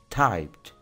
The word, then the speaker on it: typed: Entonces, su pronunciación en pasado, si le agregamos ed al final, sería typed.